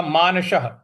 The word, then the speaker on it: मानसः: स के आगे विसर्ग है और उसके आगे कोई शब्द नहीं है तो इसलिए उसका मानसः ह उच्चारण ले आएंगे। तो योगाचलित मानसः योगाचलित मानसः इस प्रकार से बोलेंगे।